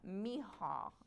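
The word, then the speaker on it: Michal: So, Mihal, yeah, isn't that Mihal?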